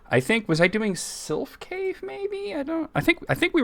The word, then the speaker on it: Sylph: You think Sylph is pronounced Sleef? No, it's not. It is not. You're thinking of, You're thinking of something else, actually. Yeah, you're thinking of a more sort of a Gaelic or Welsh word.